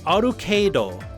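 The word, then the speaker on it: Arcueid: brunstud a-r-c-u-e-i-d it's pronounced arukedo so literally it's basically arcade but again it's it's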